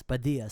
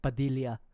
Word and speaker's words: Padilla: it would be pronounced Padilia. So you pronounce the first L and then turn it to a Y.